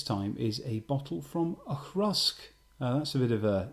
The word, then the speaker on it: Auchroisk: we have this time is a bottle from akrusk that's a bit of a difficult one to pronounce it is a space-site Distillery owned by